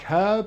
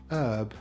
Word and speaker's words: herb: PH is usually pronounced F, and Brits like herb and Americans prefer herb.